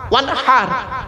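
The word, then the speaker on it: وَانْحَرْ: ওয়ানহার এ গলার ভেতর থেকে হেটা উচ্চারণ করবেন, ফাসাল্লি লিরাব্বিকা ওয়ানহার।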